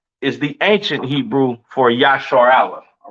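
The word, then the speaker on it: ישראל: So this is how you pronounce uh uh excuse me this how you pronounce um excuse me this is how you pronounce Israel in the ancient Hebrew yah yashar Allah. All right. Not Israel, not uh uh Yasher and and a lot of other weird names that how you pronounce uh Yashar Allah or Israel in English.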